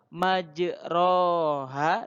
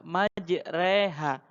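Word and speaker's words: مجراها: bismilahi majreha wa mursaha yang dimaksud imalah nya adalah majroha dibaca majreha Dibaca miring di baca-bacaan antara La facs antara Kak Fatah dan kasrah yaitu Edi bacanya bukan kasrah bukan bukan Fatah ya ke-2 baca miring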